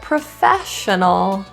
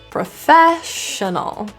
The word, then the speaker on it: professional: snack options another word professional we can stress the syllable Fair fair but all of the other vowels in the unstressed positions of syllables get reduced to schwa and that is why